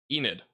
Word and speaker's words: Enid: you're in Oklahoma Enid it's Enid right Enid Oklahoma that's how you pronounce it if you guys do